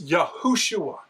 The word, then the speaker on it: Yahushua: And the only correct way to pronounce that in the ancient Hebrew is Yahushua. Remember in the Babylonian cuneiform it is Yahushua.